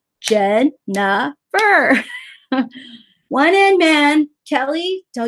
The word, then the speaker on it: Jennifer: do it wrong Jen Jennifer is three syllables one hand goes with the first syllable the second and goes with the second syllable I get a little upset puppet Jen nah fur wine and man Kelly